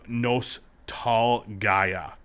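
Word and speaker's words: Nostalgaia: the last hero of nos tall gaia it's spelled nostalgia but i have in the trailer they're like you know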